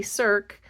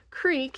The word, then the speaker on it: Cirque: C-R-I-Q-U-E is how they have it spelled, so it's pronounced creek if you announce it by the way it's spelled, but I think it's supposed to be C-I-R-Q-U-E, if that's the correct spelling in French.